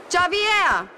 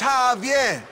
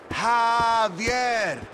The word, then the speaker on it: Javier: Javier! Bitch, you don't get it. It's Javier. It's pronounced like an H. Javier.